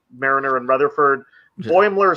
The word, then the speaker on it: Boimler: Boimler. Like Boyle with Muller on the end. Boimler? Boimler. Like, yeah, if you were saying boiler, but with an M stuck in it.